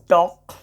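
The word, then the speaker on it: talk: बहुत सारे शब्द में एल साइलेंट हो जाता है। जैसे आपको छोटा मोटा शब्द तो ऐसे भी याद है आपको, टॉक, वॉक।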